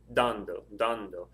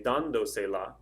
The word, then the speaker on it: dando: this word i say dando where is the stress it's over the a so if i say dando if the stress on